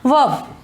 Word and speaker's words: verb: तो मैंने क्या आपको बताया है कि जो आर तो है, लेकिन हमें आर को थोड़ा सा साइलेंट यानी कि चुप रखना है, उसको इतना बोलना नहीं है।